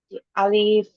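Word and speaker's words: ألف: আমার সাথে জ জি বলুন আলিফ আলিফ টান হবে না তাড়াতাড়ি পড়ব আমরা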